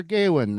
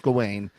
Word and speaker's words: Gawain: I listened to you talk about Sir Gawain and Gawain, and how you loved every one of them.